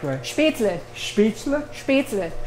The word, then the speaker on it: Spätzle: Spätzle? Spätzle. It's L-E, not E-L. Uh-huh. Spätzle.